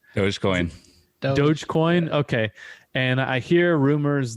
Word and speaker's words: Dogecoin: about bitcoin and elon musk and is it dodgy coin what what's the the right way to say it was going dogecoin okay and i hear rumors that uh elon